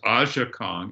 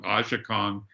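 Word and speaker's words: Aja Kong: the name i was thinking of russ it's pronounced asha kong ashikong who i've i've shot her multiple times at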